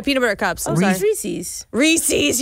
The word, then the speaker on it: Reese's: Reese's. Reese's. You said Reese's. It's Reese's. Yeah. Oh. It's Reese's Pieces.